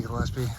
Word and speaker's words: Gillespie: It's spelled with a G. I've heard people pronounce it like with a J sound, like Gillespie Point. But since it's spelled the same way as the jazz trumpeter Dizzy Gillespie, I'm going to call it Gillespie Point.